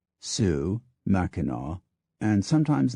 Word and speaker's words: Sioux: From the French, too, we borrowed liberally, taking the names for Indian tribes, territories, rivers, and other geographical features, sometimes preserving the pronunciation, Sioux, Mackinaw, and sometimes not, Illinois, Detroit, Des Plaines, Beloit.